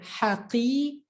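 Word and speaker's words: حقي: So instead of haqi, haqi, haqi, you're just going to hold your tongue there where you're pronouncing the qaf. Haqi, just hold it for a bit.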